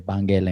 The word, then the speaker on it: Banguela: the pronunciation of the Banguela and Benguela. What are your thoughts about that? For Capoeira Regional with Mestre Bimba, it's Banguela. Okay.